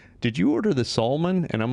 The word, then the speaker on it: Salmon: Salmon, actually. Salmon. Yeah. See, there we go. Do you get salmon a lot? A lot. Yeah, it's because it's spelled. Is it spelled? Yeah, it's spelled like the exact same way, like that. But it's Sal. It's Saul, like Better Call Saul.